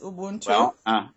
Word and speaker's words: Ubuntu: me bring it closer and uh this uh Ubuntu yes am I pronouncing it right that's correct Ubuntu I've gotten so many comments just from the